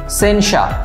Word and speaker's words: censure: এই শব্দটি হচ্ছে সেনসা, CENSURE, সেনসা। সেনসার শব্দটি আরটি অনেকটা অমিট থাকে, ইংরেজি উচ্চারণ হচ্ছে সেনসা।